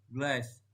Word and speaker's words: glass: Glass, pengucapannya glass. Penjelasannya A sebelum SS dibaca AA panjang.